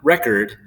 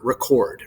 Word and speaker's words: record: of the stressed syllable so when we use the noun form of record re is stressed when we use the verb for record uh the chord is what's stressed right we have the